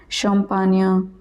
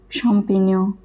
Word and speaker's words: champignon: GN is always pronounced as nia. For example, montagna, compagnia, champignon, champignon, et cetera.